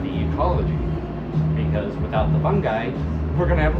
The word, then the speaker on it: fungi: fundamentals of like fungi, however you want to pronounce it, I pronounce it fungi. Like, I'm a fun guy.